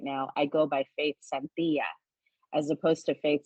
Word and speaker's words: Santilla: So actually on the stage and in my real life right now, I go by Faith Santilla as opposed to Faith Santilla or Faith Santilla, which is how a lot of Filipinos pronounce it.